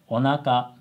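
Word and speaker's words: おなか: you just say ohara that's not even correct pronunciation it's onaka it's sushi not sushi in standard japanese and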